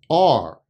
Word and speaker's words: our: Generally, our is pronounced R. And we often try to connect the R sound with the next word. You can say things like our office, our friends, our house.